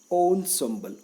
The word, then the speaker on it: ensemble: s e m b l e is being pronounced as ensemble on own symbol what does it mean own symbol refers to